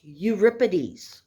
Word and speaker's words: Euripides: you'll see that it looks like europeanus it's pronounced euripides okay now euripides was even younger than his contemporary sophocles okay